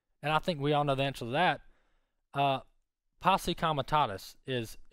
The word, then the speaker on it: posse comitatus: Posse comitatus is how you pronounce that.